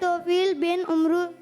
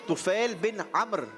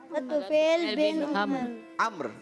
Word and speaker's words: तुफैल बिन अम्र: अच्छा, यहाँ पर थोड़ा सा प्रोनाउंसिएशन का फर्क है, मैं दुरुस्त कर देता हूँ। हजरत तुफैल बिन अम्र। क्या? तुफैल बिन अम्र। उमरू नहीं पढ़ेंगे इसको।